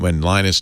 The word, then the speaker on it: Linus: eunuchs it's uh when linus torvalds who created in the 90s created it he said yeah i always call him linus but he writes he pronounces my name is lena storvalds i pronounce lenox linux